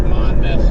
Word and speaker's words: Monmouth: It is pronounced Monmouth for everybody.